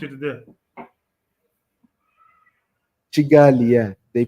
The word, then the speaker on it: Kigali: How is Kigali? How do they pronounce it there? Chigali. Yeah, they pronounce Oh, it yeah.